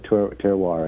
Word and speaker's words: terroir: joy gratitude and joy grows there the right Terror as you would say yeah the right terroir exactly Terror whatever and I knew how it's spelled but I just don't know how to